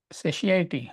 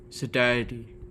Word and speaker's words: satiety: Tell me again in detail, O Janardana, O Krishna, of your yoga and manifestation for there is no siity. How you pronounce that? Satiety.